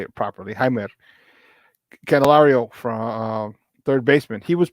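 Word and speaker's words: Jeimer Candelario: right before it they acquired third baseman uh jamer candelario Jaime just trying to say it properly hi canelario from third baseman he was part of the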